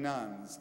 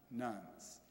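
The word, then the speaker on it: nones: I mean nuns, N-O-N-E-S, nuns.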